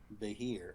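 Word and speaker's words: Beithir: Vahir is spelled Yep. B-E-I-T-H-I-R. Vahir.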